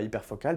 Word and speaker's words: hyperfocal: Donc comme ça se comme ça se prononce en anglais sans le e à hyperfocal bien sûr.